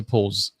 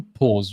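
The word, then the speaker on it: pause: এটাকে বলা হয় হচ্ছে পোজ। এক্সকিউজ মি, ব্রিটিশরা একটু ডিফারেন্টলি উচ্চারণ করেন পোজ, তারা বলছেন পোজ, যদি আমরা পজ বলে থাকি, বাট the pronunciation is পোজ in British accent.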